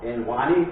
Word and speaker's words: NWANI: Now, I'm calling it NWANI, which is short for England, Wales and Northern Ireland. As you see, it trips off the tongue, and it rhymes with fabulous.